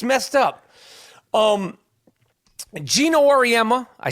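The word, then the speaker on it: Auriemma: man it's it's it's messed up um Gino Orma I said his name right see I don't try to say his name wrong gin Orma the coach of yukon's women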